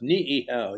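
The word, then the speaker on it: Niʻihau: in it ni I I H Au it's pronounced niow you pronounced both eyes so anyway on April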